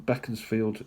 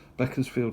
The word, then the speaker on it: Beaconsfield: So, Beckensfield again sent from Beckensfield or Beaconsfield if you know the correct pronunciation.